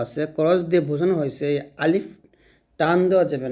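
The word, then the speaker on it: ألف: Cross দিয়ে বোঝানো হয়েছে আলিফ টান দেওয়া যাবে না।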